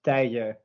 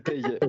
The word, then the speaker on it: Teije: But it's pronounced as Teije. So the J in our language is not a G, or as you do it in Spanish, but more of a Y. Exactly, Teije.